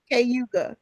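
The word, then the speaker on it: Cayuga: county in upstate New York if you could pronounce it for me. Cauga Kuga County.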